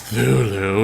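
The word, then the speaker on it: Cthulhu: he's the creator of cthulu um pronounce thulu if you must know but um but yeah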